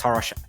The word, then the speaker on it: Horosh: I'm Horosh, and you can find me on threads at ahorosh. That's ACHOROS. The C is silent.